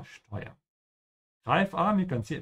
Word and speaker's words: steuern: Steuern, again here we have a word with an SD, so remember to pronounce it like sh, ja, steuern.